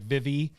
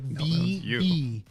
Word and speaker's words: Vivi: He was the reason why we said his Vivi right, because remember it was like Vivi, and he's like, no, it's like VV.